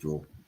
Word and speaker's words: Jule: It's spelled Jewel, JULE. Julie is IE. Jewel is JULE.